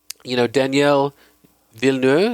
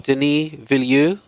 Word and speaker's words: Denis Villeneuve: I was looking forward to this movie simply because, Daniel Villeneuve, is that how you pronounce his name? Denis. I think it's Denis. Denis Villeneuve.